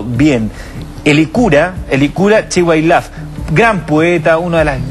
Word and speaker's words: Elicura Chihuailaf: al teléfono en algún momento más con el hechura chihuailaf pero quiero pronunciarlo bien elicura elicura chihuailaf gran poeta uno de las grandes pero una